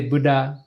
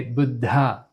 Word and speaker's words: Buddha: So we don't say Buddha, we don't say Buddha, but we say Buddha. Can you hear the difference? I hope you can understand the difference between Buddha and Buddha.